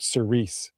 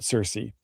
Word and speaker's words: Cirice: That's how to pronounce this next part. Cirice, not Cersei.